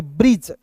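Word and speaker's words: bridge: इसे ब्रीड नहीं पढ़ेंगे इसे ब्रीड नहीं पढ़ेंगे इसे पढ़ेंगे ब्रिज बी आर आई का पढ़िएगा दोस्तों ब्री और डी जी ई है तो यहां देखिए डी जी ई तो यहां पे डी साइलेंट कीजिएगा और जी का दोस्तों यहां पे ज हो जाएगा अंतिम में आया ई साइलेंट होता है तो बी आर आई डी जी ई को क्या पढ़ेंगे ब्रिज क्या पढ़ेंगे दोस्तों ब्रिज समझ रहे हैं उसी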